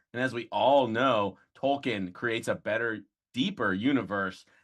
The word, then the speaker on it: Tolkien: a massive tolkien fan as i think he says it is like tolkien which maybe you're not caught up tom and that's how it's correctly pronounced but uh i love hot